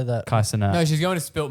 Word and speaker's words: Kai Cenat: It was Kai Canant. How do you say that? Kai Cenat.